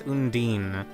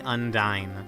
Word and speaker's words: Undine: I've always read this as Undine, but it's apparently Undine. But I'm gonna call her Undine.